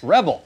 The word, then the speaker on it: Rebbl: I don't even know how do you pronounce that? Rebel.